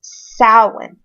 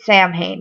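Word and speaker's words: Samhain: Um those also include Beltain, Lagnazda and Sam Hayne or the actual the the proper pronunciation of Sam Hayne is sin um Irish Gaelic but most people pronounce it Sam Hayne nowadays in between those times we have the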